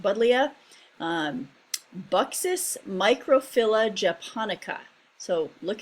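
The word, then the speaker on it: Buddleja: um but leah davidii budlia um it's a little tricky there but it i've always heard it pronounced buddlia buxus microphylla japonica so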